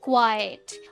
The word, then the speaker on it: quite: पहला जो क्वाइट है QUITE, इसकी प्रोनाउंसिएशन होती है क्वाइट, क्वाइट। और जो दूसरा वर्ड है QUIET, इसकी प्रोनाउंसिएशन होती है क्वाइट, क्वाइट। That is the difference.